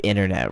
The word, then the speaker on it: internet: uk you know that people in england pronounce internet or internet internet right they they really they they go hard on that t and people in america